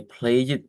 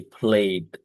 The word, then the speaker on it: played: We do not say play it, but we say played.